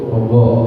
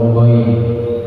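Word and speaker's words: غ: Selanjutnya yang satu tempat makhrajnya ada huruf ogo atau goi. Ya, ogo namanya ain tadi ada titiknya. Ogo. Ogo ini kebanyakan orang ketika bacanya seperti huruf G, Pak. Go. Salahnya orang masih mengucapnya mirip-mirip sama huruf G.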